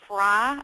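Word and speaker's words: Frey: Doug Fisher and Nancy Fry, and I believe she pronounces it Fry, but she spells it F-R-E-Y.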